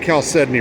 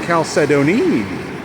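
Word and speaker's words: chalcedony: beautiful piece of caledoni and yes I pronounce it caledoni caledoni is what I seek I look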